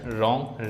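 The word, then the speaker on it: wrong: Silent W, जैसे right, रॉन्ग, rest. यहाँ पे जो ये डब्लू है ये साइलेंट है, साइलेंट है, साइलेंट है, ठीक। जब शुरुआत में WR से होती है तो डब्लू का उच्चारण नहीं होता है।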